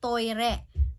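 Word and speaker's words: トイレ: Okay, by the way, toilet here is pronounced toire.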